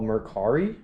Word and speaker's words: Mercari: So real quick, I got this on a website called Mercari, I think that's how you pronounce it, M-E-R-C-A-R-I.